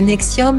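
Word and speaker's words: NXIVM: la secte sexuelle et nikci vm prononcé nexium menée par le gourou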